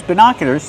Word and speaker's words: binoculars: Use the short is sound like this is, bina. Put the stress on the second syllable. It's an open sound like hot and stop. Bina. Binoculars. Make the y sound like in yes, in yellow. Binoculars. And the sound like burger.